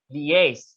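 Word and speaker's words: liaise: slide finish this line l-i-a-i-s-e is pronounced as the lias not lias lias okay um hyperbole luckily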